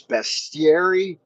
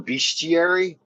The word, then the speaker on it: bestiary: One is he always says bestiary for bestiary, and I looked it up in the dictionary. His pronunciation is actually more common. Both are correct.